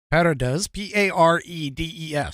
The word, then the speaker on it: Paredes: Santiago Paredes, Paredes, just how it's spelled, worked for over a decade as an inspector at a company called Spirit Aerosystems, which is Boeing's largest parts manufacturer.